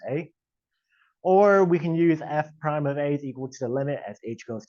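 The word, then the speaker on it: f′: the notation F and it looks like an apostrophe but this is pronounced F Prime of a so you see F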